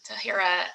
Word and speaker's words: Tahira: No, I think you're totally, Tahira, and let me know if I'm pronouncing your name correctly. You're right, it's Tahira.